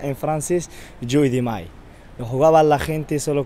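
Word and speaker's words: jeu de mail: Aquí donde estamos ahora, hace 300 años, se jugaba un juego que se llama el juego del mayo, que se pronuncia en francés Jeu de Mai.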